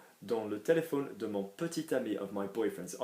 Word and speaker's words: petit: Petit ami, we've got to remember petit will always be petit, not petit, not petty, petit, okay?